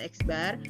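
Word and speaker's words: x̄: ini Ads Lalu ada garis di atas ini dibacanya eksbar atau lambangnya seperti ini dibacanya Miu gitu ya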